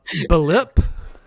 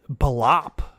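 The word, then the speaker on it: B'lip: pronouncing regular names wrong here is uh blip it's b apostrophe lip adam koble as blop it sounds very like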